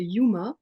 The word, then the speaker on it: UMA: Je suis, comédienne, autrice, metteuse en scène et je suis directrice artistique d'une compagnie dans les Hauts-de-France, une compagnie qui s'appelle Yuma, ça s'écrit UMA.